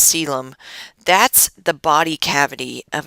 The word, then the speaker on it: coelom: they have a coelom it looks like Co Elam but it's actually pronounced coelom that's the body cavity